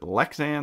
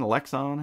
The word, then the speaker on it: Lexan: protected by 3-in um you say is it lexan lexon how do you say that yeah I think lexan lexan plexiglass whatever right